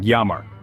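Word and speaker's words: llamar: Double L in Lamar is pronounced like a y so it sounds like yamar now you won't get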